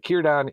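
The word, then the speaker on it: Círdan: If you're not used to it with Tolken pronunciations, starting a word with C is usually the hard C. But Kyodon is one of the strongest elves in Middle Earth at the time of Lord of the Rings.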